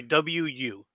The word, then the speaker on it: Wu: I'm sorry, W-U. So okay. It's just pronounced Wu.